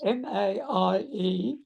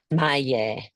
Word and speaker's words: Maie: No, my name is spelled M-A-I-E and it's Yes. pronounced Maie. Maya.